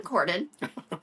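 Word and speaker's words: Corydon: was brought up not far from here in Cordon Indiana which was actually the first state capital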